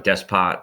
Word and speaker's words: despot: So there's usually some kind of, it's called a despot or despo, depending on how to say it, how French you are.